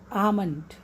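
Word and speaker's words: almond: आमंड, आमंड, इसमें L silent, आमंड।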